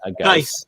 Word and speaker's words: Guice: Is it Juice or Guice, right? Geis. And Geis. Rhymes with nice.